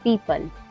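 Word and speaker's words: people: बाद में लेटर ई हो तो लेटर ओ साइलेंट रहता है जैसे पी ई ओ पी एल ई पीपल पीपल में जो ओ है वो ई के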